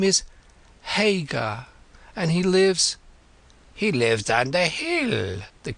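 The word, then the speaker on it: Haigha: His name is Hagar. He pronounced it so as to rhyme with mayor.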